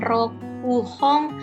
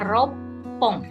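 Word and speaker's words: 六本: batang ini bahasa Jepangnya dibacanya hati-hati bukan rok fuhong roku pong gitu ya tapi dibacanya ropong jadi jawabannya nomor 4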